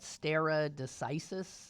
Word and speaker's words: stare decisis: what settled law that is how do they pronounce that stare decisis that stare decisis stare generic which is Latin